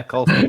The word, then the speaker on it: Edward Colston: For obviously chucking the statue of now I'm going to get his name wrong. Edward Colston, is it? Yeah, Colston.